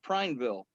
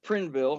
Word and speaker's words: Prineville: about two miles east of prineville or prinnville however you want to pronounce it silent this was a